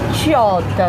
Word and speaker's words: Sciotta: Então, mas se pronuncia Ciotta na Itália, então tem esse tch.